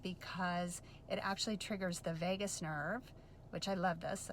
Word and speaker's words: vagus: It's so important because it actually triggers the vagus nerve, which I love this, I say this to people, it's like Las Vegas, but it's spelled differently.